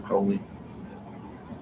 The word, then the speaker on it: Crowley: So basically, Aleister Crowley, while I'm looking for this, Aleister Crowley, however you want to, Crowley, rhymes with holy.